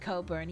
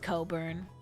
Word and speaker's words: Cockburn: I know it's pronounced cobburn, but I think it's funny. I You know, it's pronounced cockburn. There's no the in what in what scenario is the C and the K silent in anything else?